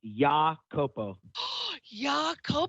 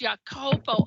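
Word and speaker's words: Iakopo: I pronounced this right is it ikapo or a capo it's ya kopo it has an oh he threw me up i-a-k-o-p-o is how it's but it's your Copo okay for those who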